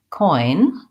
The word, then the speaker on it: coin: Your other question is the oi in the word coin. That's the same vowel as in words like boy and toy.